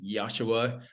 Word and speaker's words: Yashua: You know, Yasua. Am I pronouncing your name correctly? Yosua.